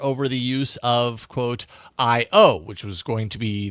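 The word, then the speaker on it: IYO: but it's spelled I YO, but apparently it's pronounced IO.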